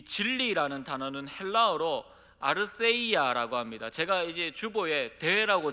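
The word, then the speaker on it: ἀλήθεια: 여기에서 이 본문에서 말하는 이 진리라는 단어는 헬라어로 아르세이아라고 합니다. 제가 이제 주보에 대라고 적어놨는데 우리나라는 이 th 발음이 없기 때문에 그냥 대라고 적어놨습니다. 근데 그 대가 th 발음을 합니다.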